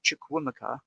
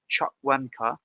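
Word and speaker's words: Chukwuemeka: name correctly because I I pronounced it chukwumika but I understand it's Chuck wanker of Chelsea is the email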